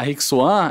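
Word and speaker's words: Rijk Zwaan: A Rixuan é uma empresa holandesa de semente de hortaliças, diferente das outras empresas.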